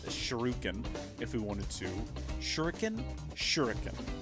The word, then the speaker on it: shuriken: Shuriken? Shuriken. I think that's how it's pronounced, not yeah, because there's not two U's.